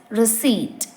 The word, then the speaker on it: receipt: is pronounced as SLE the fifth word is receipt receipt the common mistake made is pronouncing the p in receipt as received this happens because the p is written and it's natural to assume that it is pronounced so you have to